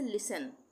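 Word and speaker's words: listen: उसी तरह से लिसन, लिसन, लिस्टन नहीं बोलेंगे, STEN एक साथ आ रहा है तो यहाँ पे टी साइलेंट हो जाएगा, लिसन।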